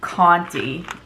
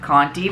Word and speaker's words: Conte: this is the jess conte i think that's how you pronounce it that's how you pronounce that name in my neck of the woods so um but yeah maybe it's not county but you can see the